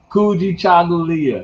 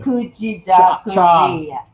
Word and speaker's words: Kujichagulia: me, I'm African, it's hard for me to pronounce it, but it is what it is. It's Kujichagulia. Kujichagulia. Kujichagulia. Kujichagulia.